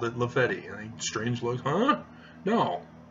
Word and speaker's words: Lafayette: You know, in New York, the street name Lafayette is not Lafayette, it's Lafetti to the people who live there on that block. I was sorely chastised when I called it Lafetti.